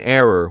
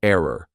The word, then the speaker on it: error: okay don't make an error when you're pronouncing the word error don't say error say error ER okay let's keep going